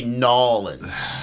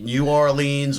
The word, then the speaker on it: New Orleans: in Louisiana in Louisiana don't say nolens yeah say it New Orleans or New Orleans okay don't make the new the whole one word uh how could I